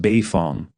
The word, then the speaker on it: Beifong: It's pronounced Beifong," Naruto said as he laughed out.